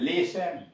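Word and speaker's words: listen: एल आई एस टी ई एन, लिसन, लिसन, सुनना।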